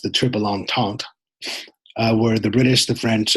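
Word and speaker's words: Triple Entente: spelled and it's pronounced the trip along taunt where the British the French and the Russians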